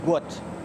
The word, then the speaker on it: Gout: It's pronounced to rhyme with pout. His name is gut.